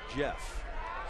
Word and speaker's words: Jff: Sports San Diego but the spelling of his name j FF which is in fact pronounced Jeff so we just want